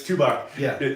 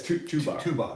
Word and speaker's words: Tubac: the tobac art festival tuac art festival yeah you you got this tobac we tobac I love it it's tuac is that right yeah it's tuac but I like tobac considering the cigar there's actually